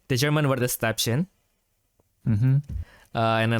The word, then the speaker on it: Stäbchen: So it's Stäbchen. Yeah, Stäbchen.